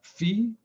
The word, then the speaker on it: phi: a little w and this is uh fee which is also a greek letter spelled p h i fee i know there's phi beta kappa but they don't know how to pronounce it they're so intelligent they can't pronounce the greek letter properly what are you going to do i think the proper pronunciation is phi where t is a